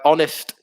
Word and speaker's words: honest: o becomes weaker um another one with silent h uh honest yeah it's a good